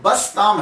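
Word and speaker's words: بسطامی: तो ये जो बस्ताम है असल लफज़ जो है ये बस्ताम है। तो कुछ लोगों ने बिस्तामी कहा कुछ ने बस्तामी कहा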